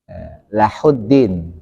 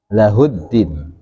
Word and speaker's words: له الدين: Jadi hu-nya jadi ha. Kayak gitu. Lahuddin harusnya lahuddin kan gitu.